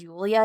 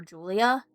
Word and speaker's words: Julia: Because he never says Julia. He always calls her Julia. But that's not how it's pronounced.